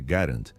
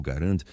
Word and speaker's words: Garand: Existe um debate persistente sobre a pronúncia do nome. O correto é Garant, em homenagem ao criador canadense. No entanto, muitos preferem chamar de Grand. Manteremos a pronúncia original Garand para evitar conflitos técnicos.